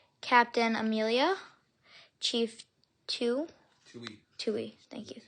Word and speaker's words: Tui: Hope I pronounced that right. Air foil the Firebird. Captain Amelia Chief Tu Tui. Tui. Thank you. Tui.